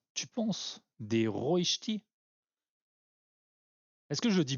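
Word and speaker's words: Rösti: La prononciation à la française, c'est pas la bonne. Ah ouais? Moi, je dis toujours des rostis.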